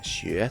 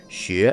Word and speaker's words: 學: as being closely linked 學 rhymes with 覺 , and 教 is